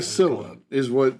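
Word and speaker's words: Cäzilia: It's what they call Casilla is the way it's pronounced.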